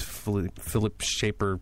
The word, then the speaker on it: Philippe Schafer: That's exactly how you say it. That's how I read it earlier, and so I wanted to make sure everybody knew how to pronounce it.